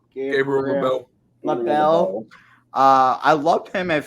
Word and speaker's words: Gabriel LaBelle: Gabriel LaBelle.